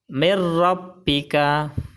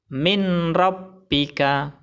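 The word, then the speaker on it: مِنْ رَبِّكَ: Bacaan yang benar adalah mir rabbika. Mir rabbika. Kesalahan baca yang pertama adalah mir rabbika. Salah. Karena bacanya tidak ditahan dan tidak didengungkan. Kesalahan baca yang kedua adalah min rabbika. Salah. Karena bacanya harus dimasukkan ke huruf idgham bila gunnah.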